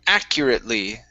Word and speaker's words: accurately: is the word i'm accurately okay accur accurately stress at the beginning actually very good uh